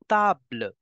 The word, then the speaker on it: table: The spelling is same in English and in French, but the pronunciations are different. In English you say table, in French you pronounce it as table.